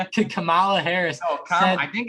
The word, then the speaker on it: Kamala: because last night uh vice president um candidate kyle mila harris actually said to kamala harris i think it's kamala oh it is